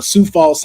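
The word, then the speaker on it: Sioux Falls: had reported that uh Sou Falls South Dakota has their own con which is a um Super Con, but you know it's spelled like Sue.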